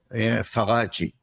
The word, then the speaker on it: Faraggi: say it wrong F faraji faraji yeah it's like Italian oriented cool and so you're